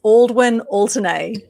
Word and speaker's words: Aldwyn Altuney: way you say it by the way it's aldwin alternae all the way and alternate okay and the